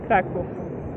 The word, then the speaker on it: Kraków: But the real pronunciation is Kraków. Krakow. Sure. It's not Krakow, it's Krakow. Instead of W at the end, it sounds more like an F.